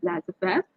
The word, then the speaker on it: laissez-faire: So as I told you, laissez-faire, this is a French word and the pronunciation is laissez-faire.